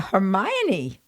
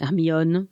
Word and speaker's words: Hermione: the word i went oh you mean the hermione and they thought i was weird so there you are the difference between pronouncing in english and pronouncing in french yeah it's not that different amion hermione kind of yeah anyway everybody's familiar with